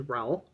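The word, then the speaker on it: Raul: person his name is Ral rhymes with Paul R and he is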